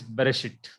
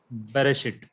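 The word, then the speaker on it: בְּרֵאשִׁית: It is Bereshit. Bereshit. So this Shiva is vocal and its pronunciation is B, a small e.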